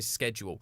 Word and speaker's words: schedule: So I always say schedule. And even looking at it, I'm like, it feels wrong to say schedule because it's spelt like school is. It's SCH. And for school, that is an SC sound, a sk. School. And so schedule makes way more sense than schedule because it's not at